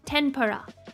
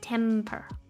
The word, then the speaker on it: tempura: to me but in Japanese we pronounce the M as n so tempura tempura not temper temper uh yes right yes